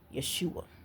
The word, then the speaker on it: Yeshua: But I find it interesting that this author takes his time to make sure that he points out the Hebrew pronunciation of Jesus Yeshua.